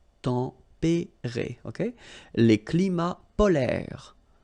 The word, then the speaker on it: polaires: Les climats polaires. So same thing here. E and S are not pronounced.